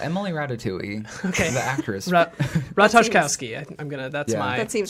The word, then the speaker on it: Ratajkowski: It's Ratajkowski.